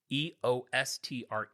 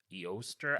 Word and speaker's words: Eostre: It's Eostre. It's like Easter, but Eoster.